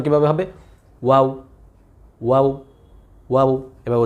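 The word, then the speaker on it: واو: যদি আপনি ওয়াওয়ের মধ্যে সব সময় ঠোঁট গোল রাখতে পারেন তাহলে ওয়াওয়ের উচ্চারণ সবচেয়ে সুন্দর হবে, কোনো প্রকার ভুল হবে না ইনশাআল্লাহ।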